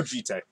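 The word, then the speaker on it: Jitte: I'll go Jite. Yeah. Jite. Or Jeet, if you want to pronounce it. No, I'll go yeah. Jite. All right, we'll go Jite.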